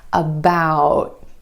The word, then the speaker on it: about: Instead of that true T at the end, most Americans are going to hold that T about.